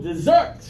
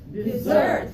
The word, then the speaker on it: dessert: here first one delicious stress on the second syllable dessert dessert okay this is the my